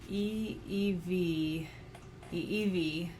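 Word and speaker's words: ʻiʻiwi: be offensive at all I looked up the pronunciation I'll put that here e v e e v which is spelled I apostrophe i w i e e or uh the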